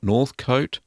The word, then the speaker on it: Northcote: This is from Richard, and Richard is from Northcote, is how you pronounce it, in Victoria, here in Australia, in my home state.